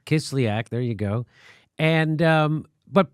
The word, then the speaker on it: Kislyak: Sergei Kislyak. Kislyak.